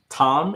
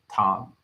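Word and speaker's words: תָּם: see the word that means Perfection so it's pronounced Tom in case the uh camera doesn't pick up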